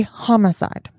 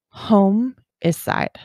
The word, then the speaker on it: homicide: is coming out but we say homicide h-o-m-i-c-i-d-e right however dennis pronounced it home is side he said i would like to report a homicide not homicide this triggers hundreds of